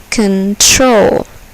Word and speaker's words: control: Control. Control. Here, the second syllable is accented. Control.